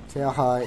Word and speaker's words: Terra: time that Xehanort get Terra, yeah, I say Terra. Terra is how you pronounce that on Portuguese, by the way. That is a Portuguese word that's mean earth, so that's the why haters do that kind of joke.